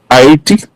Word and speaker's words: Ayiti: Oh, what's it called now? Ayiti. A- Ayiti, okay.